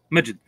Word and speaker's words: Majid: You pronounce it Majid or Majid? Majid. Majid, all right, like Magic Johnson.